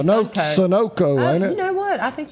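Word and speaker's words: Sunoco: fender bender right there at the the you pronounce that Sunco or Sono how how do you say that name I say Sono you know what I think you're right you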